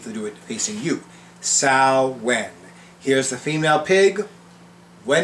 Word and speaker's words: Samhain: pronunciation is salad not samhain not anything else but sal wen think of it this way female pig when as opposed to what where who or why sal when actually i need to